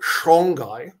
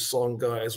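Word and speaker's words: Songhai: called the sangai empire west africans have told me that they prefer to pronounce it shanghai but we're going to use song guys we're more familiar with that and this was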